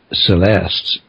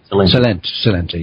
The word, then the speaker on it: Celente: You also have Gerald Celeste. Is that how you pronounce it? Celente, yeah, Gerald Celente, on Alec Jones 2 days